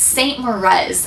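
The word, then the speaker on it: St. Moriz: It's St. Morez. I'm pretty sure that's how you say it.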